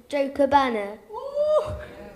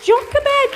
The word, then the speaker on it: Jochebed: I were discussing how on earth we can pronounce the name. So, we've got a young man here. Let's ask you. Jochebana. That's brilliant, that's close. Jochebed, brilliant!